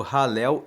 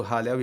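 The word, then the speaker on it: Hallel: No livro 5, que vai do 107 ao 150, você encontra o conjunto dos salmos que formam o Halel egípcio. Halel se escreve H-A-L-L-E-L.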